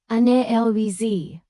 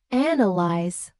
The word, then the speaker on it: analyze: The word is analyze, and most English learners say an elves with the stress on the third syllable. When native speakers say analyze with clear stress on the first syllable, this misprononunciation is especially